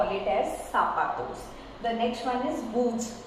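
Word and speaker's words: zapatos: Remember this z gives you the pronunciation of s. So this we call it as sapatos.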